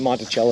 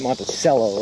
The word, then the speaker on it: Monticello: Although you guys don't pronounce it Monticello, you pronounce it Monticello, right?